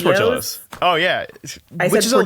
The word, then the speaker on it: Portillo's: Like the first time I tried I'm gonna say it wrong right now, Portillo's, I said Portillo's. It is Portillo's.